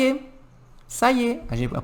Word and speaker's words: ça y est: Ça y est. A gente vai pronunciar assim. Ça y est. A gente vai falar ça y est.